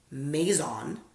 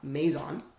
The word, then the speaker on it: Maison: how to say it I'll slow it down Maison it's like Mason both and I Maison Francis easy Maison Francis Kirk like Kirkland Kirk John the name John Kirk and John Maison